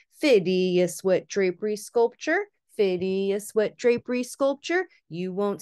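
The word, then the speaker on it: Phidias: building and this is by phidius that's how we're going to pronounce his name and of course we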